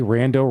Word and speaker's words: Rando: And back in the day, Rando rhymes with Rambo.